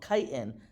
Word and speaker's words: chitin: It's high in something called chitin, CHITIN is how you spell it.